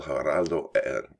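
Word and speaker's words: Heraldo: El Geraldo, I got to say no H, right? There's no H pronunciation.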